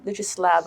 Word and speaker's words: Lexis Lab: I mean, you mentioned a little bit earlier about Lexis Lab. Am I pronouncing that correctly?